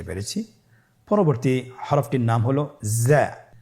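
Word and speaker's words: ز: উচ্চারণ করার সময় অবশ্যই এক আলিফ টেনে পড়তে হবে, এক আলিফ টেনে পড়তে হবে।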